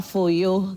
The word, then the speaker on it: Foyo: Name is Foyo. Foyo, is that how it's pronounced?